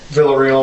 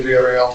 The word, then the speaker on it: Villarreal: Veril. Well, that's the American pronunciation. It's actually Vel.